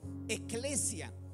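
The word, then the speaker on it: ἐκκλησία: Por eso la palabra iglesia, amado hermano, hermana, viene de un término griego, ¿verdad?, que se pronuncia eclesia.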